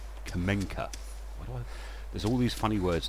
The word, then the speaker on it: Kamenka: If there isn't, it's Clemenca. Why did I put an L in Clemenca? It's not. It's Kamenka.